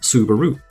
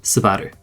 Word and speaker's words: Subaru: emphasize the U, hence Subaru. But in the Japanese language, the U sound isn't as prominent. In fact, at the end of a word, it's practically silent. In Japanese, it's pronounced Subaru.